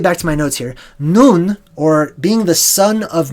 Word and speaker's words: nun: now in you in is properly pronounced noon okay noon is a letter also